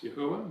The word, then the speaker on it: Yahuah: the Hebrew Yod-Heh, Wah-Heh, which I prefer to pronounce Yahuah. Many pronounce Yahweh, that's fine, but it's definitely not Adonai.